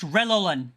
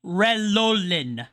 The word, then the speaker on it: Relolin: His name is pronounced Relolin. Relolin.